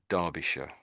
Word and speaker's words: Derbyshire: So we say Derby and then we say Darbisha. So, and sh we're saying sh for this last bit, but really that isn't really how you would spell sh if you're going to spell it.